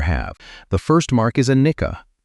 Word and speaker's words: anicca: The first mark is anicca. Say it like anicca, impermanence.